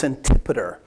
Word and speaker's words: Antipater: and it's kind of when you see it you you want to pronounce it a different way but it's antipoder he's one of those